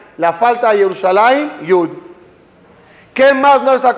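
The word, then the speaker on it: ירושלים: ¿Qué letra le falta al Yerushalayim en todos los escritos que yo sepa? No sé, a lo mejor. La Yud, Yerushalayim. Y no está, Yerushalayim. Se lee Yerushalayim.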